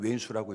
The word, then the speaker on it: 원수: 우리는 대부분 원수를 원수라고 써놓고 읽을 때는 왼수라고 읽지요.